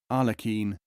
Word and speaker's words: Aglakin: Plural Aglakin, pronounced with guttural R and European Q, as Arlekin, Arlekin.